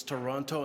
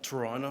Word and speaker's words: Toronto: By the way, it's Toronto, not Toronto. How some of you been pronouncing it all all morning, please?